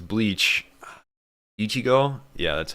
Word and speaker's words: Ichigo: Ichigo?